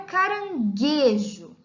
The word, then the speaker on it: caranguejo: para ficar me trouxe nós temos a palavra caranguejo observe a pronúncia da palavra para desejo de repressão qualificada de observa em que nós não pronunciamos a vogal u e portanto a dupla de letras g u nesse caso é um dígrafo pois a letra U não é pronunciada e o dígrafo está